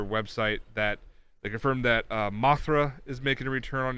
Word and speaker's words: Mothra: one called it MOA like no it's Mothra like moth like the thing yeah right how do